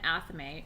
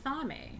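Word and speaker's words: athame: a ceremon knife or an aame or an aame depending on how you pronounce it I've heard it both ways um I call it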